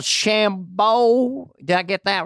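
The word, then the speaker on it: DeChambeau: e o now what is that is that pronounced there's one called shambo did I get that right bryson shambo dshambo dshambo professional golfer your words not mine any relation to Dennis Dancini remember him?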